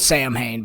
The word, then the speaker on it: Samhain: It's spelled Samhain, but it's pronounced Samhain.